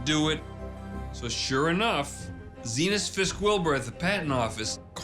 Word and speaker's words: Zenas: Zenas rhymes with penis. That's how I remember it. Zenas. Zenas.